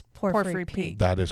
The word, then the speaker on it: Porphyry: And it's Porphyry. Is that how you're pronouncing Yep, it?